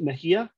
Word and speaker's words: Mejia: Is it Mejia? It is. Very good.